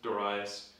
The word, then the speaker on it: Darius: Darius comes to power also pronounced daras pronounced a lot of ways I'll pronounce him as Darius when he comes to